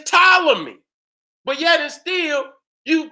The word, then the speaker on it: Ptolemy: right there so we their correct pronunciation is Ptolemy but yet it still